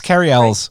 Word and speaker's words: Cary Elwes: to mention Princess Bride Cary Elwes it's Kerry Ellis carry out his name